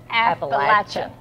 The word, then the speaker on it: Appalachian: But we know if you're truly an Appalachian person because it's Appalachian. Yeah, you got to say it right.